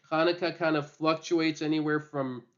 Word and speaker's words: Hanukkah: the spelling sometimes is supposed to tell people to pronounce it like KH so it's not haneka it's Hanukah um so just people